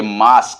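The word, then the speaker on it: mask: एम ए एस टी एम ए एस के मास्क sorry M ए एस के मा मास्क नॉट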